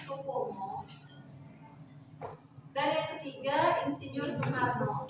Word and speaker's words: Soepomo: Soepomo, tulisannya Soepomo, dibacanya Soepomo, dan yang ketiga Insinyur Soekarno, Ir.